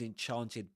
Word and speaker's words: enchanted: Enchanted with that long R sound typically used in in this accent in standard southern British English.